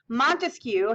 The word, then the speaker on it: Montesquieu: Montesquieu has 3 syllables, just like separate has 3 syllables, okay?